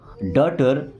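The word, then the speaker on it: daughter: Best का मतलब सबसे अच्छा या सबसे अच्छी डॉटर देखिए यहां पे जी और एच साइलेंट है। ओके टी के पहले कभी भी जी एच आए ना तो साइलेंट ही रहेगा।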